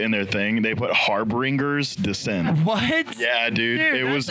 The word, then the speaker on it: Harbingers Descent: We're here with Harbingers descent Harbingers.